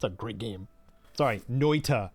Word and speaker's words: Noita: So yeah, man, I haven't played Noita in a while either. That game is great. It's a great game. Sorry, Noita, because pronouncing the T bothers Sarge.